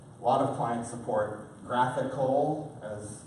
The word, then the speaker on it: GraphQL: A lot of clients support graphical, as it's pronounced there, which you'll see in a minute, is a pretty cool, pretty simple but very, very powerful.